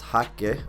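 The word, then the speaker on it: Haake: I believe there's some parts that Thomas Hacke, I'm going to say it like that because I remember I got a voice note before that told me how to pronounce it. I always just say Thomas Hake, and I'm just probably going to continue to say it because it's very forced when I try and say it how it's supposed to be pronounced.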